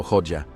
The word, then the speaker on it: Hoxha: extraños de la historia hoxa pronunciado hoja fue un estalinista radical